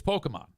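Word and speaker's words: Pokémon: I guess in the past, when I would say Pokemon, Kenny said, no, you're saying it wrong, Easy. It's Pokemon.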